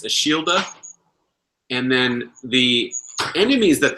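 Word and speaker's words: Ashildr: But because they don't pronounce the R's really, it's Ashilda.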